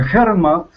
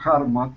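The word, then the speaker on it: HeartMath: su lugar bueno el hermat el harmat perdón harmat se pronuncia con harm como corazón institute está trabajando desde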